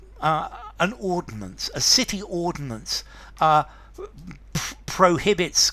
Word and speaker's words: ordinance: to ordain okay so a city ordinance three syllables um formality I would